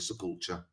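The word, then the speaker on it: Sepulcher: I don't know how you guys pronounce it. It's my way of saying it. The sepulture.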